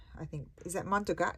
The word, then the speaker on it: Montague: Extraordinary Collections by Marin Montague. I think, is that Montagut? It says Montagut, how you spell it, but I would say you pronounce it Montague.